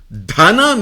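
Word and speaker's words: धन: Dana means wealth. Sorry, dana means cow. Dhana means wealth.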